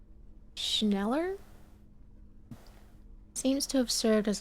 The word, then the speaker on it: Schneller: Schneller is a stationery brand from Gottwald, beloved among architects and engineers.